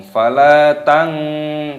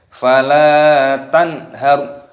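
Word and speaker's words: فلا تنهر: Tanhar, nun sukun bertemu dengan ha, hukumnya dibaca idhar halqi. Cara membacanya dibaca jelas. Tanhar, tidak boleh berdengung. Fala tang, tidak boleh. Fala tanhar.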